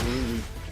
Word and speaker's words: RWBY: Like that's how I was gonna pronounce RWBY like Ruby, and there actually is a character named Ruby in it.